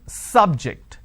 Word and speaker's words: subject: me use the example biology is an interesting subject I am stressing on the first syllable so I say biology